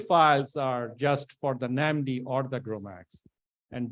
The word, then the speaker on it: NAMD: an MD for okay it's pronounced as namdi not another name suggestion okay